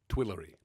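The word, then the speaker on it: Tuileries: we saw him last I assume you pronounce this horse Twillery twillery be named after the twillery gardens in Paris the twillery uh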